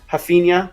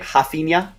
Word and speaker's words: Rafinha: Did I get it right? Rafinha? I'm seeing people in chat giving me props on that. I was trying to give the Brazilian pronunciation there.